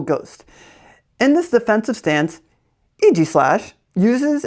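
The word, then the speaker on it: Aegislash: I used to say ag slash. It's not ag slash. It's EG slash. Eg slash. Isn't that wild? EG slash type steel ghost. In this defensive stance, EG slash uses its steel body and a force field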